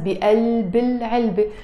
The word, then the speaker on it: بقلب العلبة: But sometimes we can also say القلم بقلب, in the heart of, بقلب العلبة, pronounced with a liaison as بقلب العلبة, which means inside of, بقلب, simply.